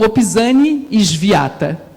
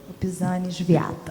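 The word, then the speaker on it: Opisanie świata: Então, não é Opizani, mas é Opizani, o S com o som de Z bem forte. E aí, esse S acentuado, né, do polonês faz o som de ish, né? E o W se pronuncia como W em alemão, ou seja, com som de V, né? Então, Opizani Sviata.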